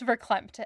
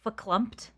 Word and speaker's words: verklempt: She is verklempt, as Becca would say. Actually, the word is verklempt. Oh my god. Verklempt. I said it wrong.